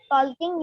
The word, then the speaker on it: talking: We got talking man. ठीक है बोला. वॉकिंग एंड इन the same way टॉकिंग. TALKING. Talking. Here also L will remain silent.